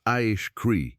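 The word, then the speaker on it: Acre: And then there are the geoglyphs of Akri, pronounced Aish Cree, in western Brazil, where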